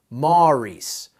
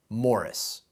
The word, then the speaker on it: Maurice: Maurice, while Evans himself his entire life insisted on the traditional English. Morris.